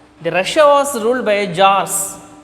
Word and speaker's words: Tsar: The Tsarist, the Russia was ruled by Tsars. T is silent there. The Tsar means Russian Empire.